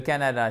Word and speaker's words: Canada: Donc, je me mets devant, justement, le Canada, c'est Canada, Canada, c'est un A court, accent tonique sur la première syllabe, Canada.